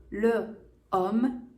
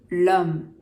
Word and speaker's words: l'homme: Au lieu de dire le homme, même si c'est un nom masculin singulier, on dit l'homme, qui s'écrit L''homme parce que ça commence par un H muet.